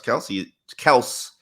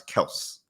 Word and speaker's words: Kelce: tight end and Travis Kelce is playing like his name is Travis Kelce. Yes. Says who? Says his father. That's how you say his name.